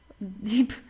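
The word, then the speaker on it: Dieb: So you don't say dip or dip. Deep. It's deep. Okay. Dead deep. Kind of like the word deep in uh in English. Yeah. The deep. Uh also the B it's not pronounced very strong. So it's not deep or so. It's deep. Sounds more like a P at the end.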